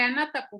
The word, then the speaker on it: Anátapu: Bien, bien, excepto el de Anátapu.